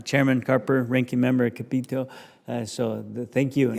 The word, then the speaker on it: Capito: Carper ranking member of capito so thank you actually believe it or not she pronounces it Capo Capo Capo yes Capo okay I'm sure your